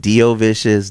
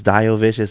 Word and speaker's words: Diovicious: vicious and so and you could pronounce it Doo vicious Dio vicious that doesn't matter but sometimes people would